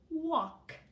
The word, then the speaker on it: walk: This word is walk. Say it. Walk. This is interesting, too, because I would think walk would be spelled differently, but look, it has an L in there. Walk. The L is silent.